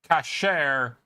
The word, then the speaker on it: cache: And it is definitely pronounced cache. Cache and cache share a common French root, but they are pronounced differently as they have two different meanings.